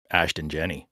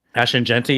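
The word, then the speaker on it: Ashton Jeanty: of the year, it to me it's just Ashton Jenny. Ashton Genty.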